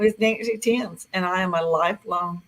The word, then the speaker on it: Thames: proud to be here I pronounced my last name Tims like the Tims River in England it's really different and